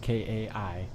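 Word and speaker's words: Kaj: got kai from twitter it's spelt k-a-j pronounced k-a-i kai okay rhymes with sky okay so so far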